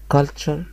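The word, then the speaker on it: culture: طب الكلمه بيكشر يعني صوره الكلمه التانيه اسمها كالتشر كالتشر يعني ثقافه كالتشر الكلمه اللي تحت اسمها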